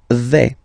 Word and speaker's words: vais: The first form is je vais. Okay, so remember, final S not pronounced here. Je vais. Okay, when you combine this A-I, you get the sound E, really open.